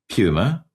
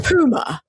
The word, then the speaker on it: Puma: I'm like, Randy, there's no poo in Puma. Puma. The Puma.